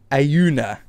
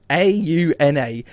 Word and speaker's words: Auna: speaking into right now I never know exactly how to say it but I say auna a u n a auna it's a condensing